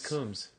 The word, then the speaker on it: Coombs: Dressup, Ernie Combs. Ernie Coombs. Coombs. What did I say? Combs. Oh. Some people might pronounce it Combs.